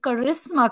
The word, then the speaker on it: Karisma: has basically said that her name is actually karisma Kapoor like the English word karisma except it's not spelled